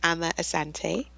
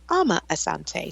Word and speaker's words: Amma Asante: say your name yeah I say my name Emma Asante but I'm used to Americans saying my name Alma Asante so I respond to either okay and and that's